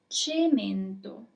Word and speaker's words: cemento: So, our first word is cemento. I'm gonna repeat it one more time. Cemento. And now it's your turn to write it down. And this is the solution, cemento.